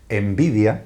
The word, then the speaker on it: Nvidia: tiene el curioso nombre, lo pronuncio en castellano, ¿vale? Envidia es como se llama, nvidia, envidia es como se llama esa empresa envidia.